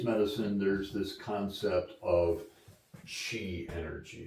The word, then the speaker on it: qi: Um, so with Chinese medicine, there's this concept of chi energy. It's spelled qi but pronouncedq chi.